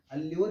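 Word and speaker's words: allure: इसको पढ़ना सीख लीजिएगा, एल्यूर। एल्यूर इज the correct pronunciation.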